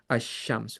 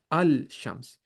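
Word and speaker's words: الشمس: We directly go to the next letter and we put a shaddah. We say We say ash-shams. We don't We don't say al shams.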